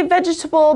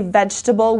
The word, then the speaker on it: vegetable: 14th okay vegetable vegetable okay you could say vegetable but actually most people say vegetable we eliminate this see here when we pronounce it it's a plant root seed or